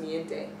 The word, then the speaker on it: Mi Gente: It's spelled Mi Gente, but it's pronounced Miente.